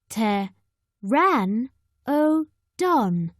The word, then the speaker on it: Pteranodon: means winged and Toothless how do you say it Pteranodon say te ran o Dawn a Pteranodon is bigger